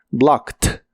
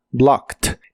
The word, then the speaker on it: blocked: termina con e d en este caso esa e d se pronuncia como T blocked blocked en el pasado lo